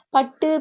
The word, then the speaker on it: பட்டு: இப்ப பட்டு, பாக்கு என்று சொல்லும்போது பட்டு, பாக்கு அந்த டூ எல்லாம் முழுமையாக உச்சரிக்கப்படல.